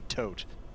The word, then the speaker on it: Thoth: is it TH or is it TH or is it to or so as best we could determine since you know this is an arcade language um it should be pronounced TH or potentially tote but really yeah so really no one is not a living language so if you want to say tho you want to say Toth I'm saying to you